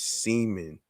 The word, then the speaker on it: Seaman: ago in regards to thomas seaman no steaming that rhymes with semen here which i didn't